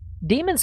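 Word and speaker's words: daemon: this might settle it which pronunciation comes first when you have the either or situation here in wikipedia and you know it's the wrong one it pains me to say demons first i just i don't know what to tell you guys it pains you to say yeah you're hurting i can tell i know i know oh anyway either either pronunciation is fine i just i really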